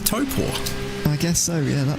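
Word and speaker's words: Taupō: Taupo? I always think about a bear, right? What does a bear have? At the end of their paw, they got a toe. They got a toe paw.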